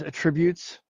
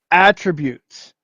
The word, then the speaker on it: attributes: in uh what men moments pronounces attributes um it's actually attributes you know if he